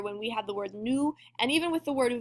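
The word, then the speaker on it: nous: this is new and you're not going to pronounce that s unless the next word starts with a vowel and that is to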